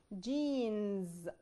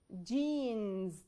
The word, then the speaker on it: jeans: لان انا عندي letter e و a ورا بعض وزي ما اتفقنا ال e بتكون long وال a silent.